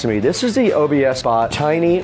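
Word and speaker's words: OBSBOT: But today, OBS bot, now I did pronounce that incorrectly in the last video. It's OBS bot. I was calling it OBS bot. It is not. It's 3 separate letters when you pronounce it.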